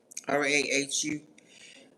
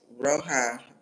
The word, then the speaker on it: Rahu: Is it Rahu? Is that how you say it? R A H U Rahu.